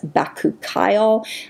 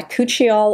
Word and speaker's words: bakuchiol: them together I was told that the proper pronunciation is back ookyle I've been calling it coochie all all this time so this is a really